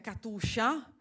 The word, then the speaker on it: Katiuscia: Katiuscia è Katuscia, quindi insomma ringraziamo Natalia Scilova